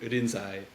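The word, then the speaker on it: Rinzai: century China uh who's whose name in Chinese was lingy in in Japanese uh would be pronounced more in irinsai uh and so that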